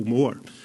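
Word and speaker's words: Mhor: a place called Monaco Moor. And you'll notice the word more. It's spelt M-H-O-R.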